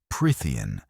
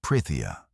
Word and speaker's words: Prythian: Prtheian, not Pritia, but Prtheian, and deceives everybody into buying her until she magically enslaves them.